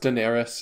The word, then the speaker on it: Daenerys: Oh, that compared with the fact that everyone is it pronounced Daenerys?